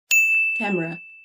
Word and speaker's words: camera: okay, number 4 camera. camera. okay، مش كاميرا زي بالعربي، لا هي هتبقى camera.